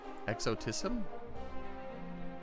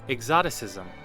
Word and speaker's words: exoticism: That's not how you pronounce that, is it? Have I heard that word in my life? Let's find out. Exoticism. Oh, exoticism. I definitely was pronouncing that incorrectly.